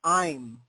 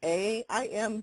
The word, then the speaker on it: Aim: bit better, but it's I'm, right? Some people spell it with an A-I-M, but but then people can mispronounce it or do aim or something, but it's really I'm.